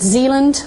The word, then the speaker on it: Zealand: the main island here um and it's called Zealand I double checked that with colon on my pronunciation last night and then fune and um